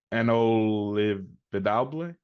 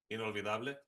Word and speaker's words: Inolvidable: I don't know how to pronounce the end. Inolvidable. Inolvidable.